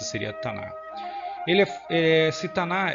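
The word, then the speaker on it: Tanakh: A pronúncia seria Tanar.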